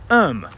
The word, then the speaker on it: erm: should be pronounced as um like um it's just the British way of spelling the word um this entire time I